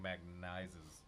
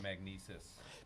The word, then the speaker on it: Magnises: And it was spelled MAGNISES, which is like the opposite of how you would think it's spelled. So it looked like magnizes, but it was magnesis.